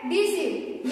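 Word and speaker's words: deceive: इसको बोलेंगे रिसीव और इसको बोलेंगे डिसीव यानी कि जहां भी आई ई और ई आई एक साथ आता है तो ई का उच्चारण हम लोग क्या पढ़ेंगे? ई ही पढ़ेंगे। क्या पढ़ेंगे? ई पढ़ेंगे।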